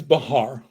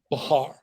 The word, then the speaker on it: Bahar: Oh, my name's Bahar. Bahar. Okay, why don't you have a seat? No, Bahar, not Bah- 2 syllables.